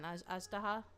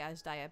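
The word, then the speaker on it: Azhdaha: Ajdaha. I say Ajdaya because that's how you pronounce it in a different game. But Ajdaha.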